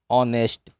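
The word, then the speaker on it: honest: इसी तरीके से ऑनेस्ट, ऑनेस्ट में भी एच साइलेंट दिया हुआ है, क्या लिखा है? ऑनेस्ट। तो साउंड किसका आया है? ऑ का साउंड आया है, और एच क्या है? ऑनेस्ट में एच साइलेंट है, ऑनेस्ट में ऑ से आवाज़ आ गई है, और क्या है?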